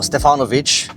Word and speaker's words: Stefanovic: Well, well, well, Karl Stefanovic or Stefanovic as his his actual pronunciation, clearly a great Australian name.